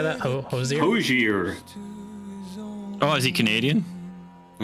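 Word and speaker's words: Hozier: Hosier.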